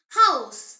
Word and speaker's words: Haus: In German, ha is always breathed out. It is never silent like in some English words. The example word is house.